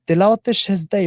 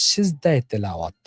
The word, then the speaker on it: সেজদায়ে তেলাওয়াত: কিনা প্রথম কথা হচ্ছে তেলাওয়াতে সেজদায় উচ্চারণটা ভুল সঠিক উচ্চারণ হচ্ছে সেজদায়ে তেলাওয়াত সেজদায়ে তেলাওয়াত সেজদা আগে আসবে এটা ফারসি একটা বাক্য তার অর্থ হচ্ছে তেলাওয়াতের